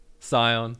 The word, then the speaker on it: scion: also is science however it's pronounced i'm pretty sure it's cyan we all know what i'm talking about let's find out who's been trinimacked in this one let's have a listen scion scion all right boys